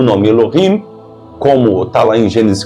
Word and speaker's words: Elohim: o termo Elohim tá E os cabalistas pronunciam Eloim aqui nessas passagens o